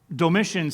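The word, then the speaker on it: Domitian: Emperor named doiss and doiss sounds like the word Dominate and that was kind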